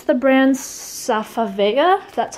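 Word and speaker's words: Safavieh: of course and i think it's the brand safavaya that's how you pronounce it but again it just brings in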